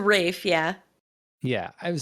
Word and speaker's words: Ralph: uh twillston wickham fines is it not ray fines it's a rafe yeah yeah i would